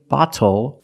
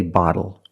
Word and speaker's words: bottle: and for this reason the T changes to a fast D in American pronunciation that's why we do not say little we say little and we do not say bottle we say bottle so this is a